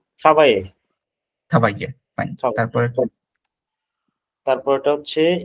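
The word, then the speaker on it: travaillez: থ্রা হুম, মানে ইয়ারটা ট্রাভাই, TRAVILLEZ, উচ্চারণটা ট্রাভাইয়ে।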